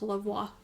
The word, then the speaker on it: Lavoie: And he lets me know that his name is pronounced Lavoie. It's like the French pronunciation.